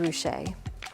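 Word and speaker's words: Ruscha: might call emerging artist he actually had business cards printed with his name spelled out phonetically Edward Rouse so that people would know exactly how to pronounce it Ed ret defies easy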